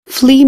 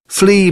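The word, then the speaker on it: flea: यू गट it from फिली market यह जो फिली market की स्पेलिंग है एफ एल ई ए इसके अंदर ए जो है यह साइलेंट है फ्ली market फ्ली market फ्ली market फ्ली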